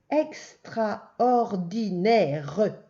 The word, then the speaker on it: extraordinaire: Attention, c'est le E de mer, le O de moto. Et le deuxième E, le E de la fin, c'est le E de maison. Et il y a un E muet.